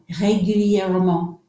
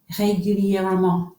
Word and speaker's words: régulièrement: This is régulièrement. Isn't that awesome? Régulièrement. 5 syllables. Régulièrement. Régulièrement. Régulièrement.